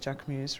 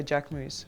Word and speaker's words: Jacquemus: I like Loewe and I like, it's pronounced Jacquemus, right? Or Jacquemus, whatever it's pronounced as, you know the pronunciation.